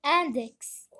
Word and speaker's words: index: Le troisième mot, index. Ici, X se prononce comme boxeur. On va faire une croix dans la deuxième colonne.